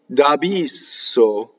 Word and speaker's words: d'abisso: Now, double S can be very ugly when you sing. You have to be most careful with S. How you distribute your vowels and your consonants. So d'abisso, this is the way you sing. You can say d'abisso when you speak.